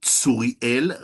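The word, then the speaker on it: Tsuriel: His name is Suriel Rashi. You spell that T S U R I E L and Rashi like in Rashi.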